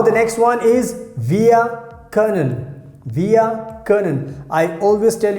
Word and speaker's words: können: How we pronounce können. Können.